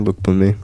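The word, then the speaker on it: Lookboonmee: Is it Luke Bunme? Yeah, that's right. Luke Boom.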